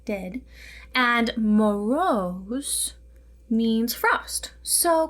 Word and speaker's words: Ded: The etymology of this character is directly translated to grandfather, so Ded, D-E-H-D in pronunciation, Ded, and Moroz means frost.